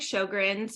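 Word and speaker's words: Sjögren's: So, I I have systemic Sjogren's, which is also known as Sjogren's Syndrome. It's spelled funny. It has a J in it. It looks like a chair from IKEA.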